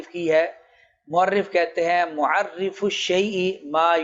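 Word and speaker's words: مُعَرَّف: تعریف ہو اس کو معرف کہا جاتا ہے را کے زبر کے ساتھ، اور تعریف کو معرف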